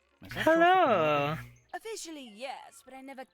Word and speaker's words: Penelope: Penelope? Officially, yes, but I never can be bothered with all four Oh, syllables Penny, of it's you.